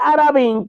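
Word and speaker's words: ערבים: pronuncia Entonces por ejemplo la palabra hebrea puede pronunciarse orbin que significa Cuervo pero también se puede pronunciar arabí que significa árabe se escribe igual pero se pronuncian diferente Pero vamos a ver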